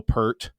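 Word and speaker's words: Peart: And of course, Neil Per, I think is the actual pronunciation pronunciation.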